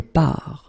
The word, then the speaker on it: pars: Remember, you put this S, you don't pronounce it. Je pars.